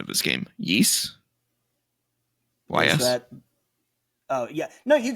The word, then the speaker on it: Ys: The first is, and you're going to have to correct me if I'm mistaken on my pronunciation of this game. Ys?